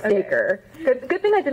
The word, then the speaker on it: Dacre: So then it's Dacre. So some people are like, is it Dacre? And like, I'm Southern, so it's like acre with a D, so it's Dacre.